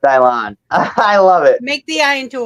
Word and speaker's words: Dylan: It's spelled Dylan, pronounced Dylan.